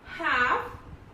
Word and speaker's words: half: So L is silent when it is used after A, O and U. Okay, example: calf, half, balm, should, could, would and for.